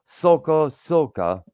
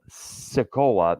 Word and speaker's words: Sikoa: Randy Orton and Kevin Owens versus Silka, what's it called? Sikoa. That's here I go. And Tama Tonga. My bad for mispronouncing his name.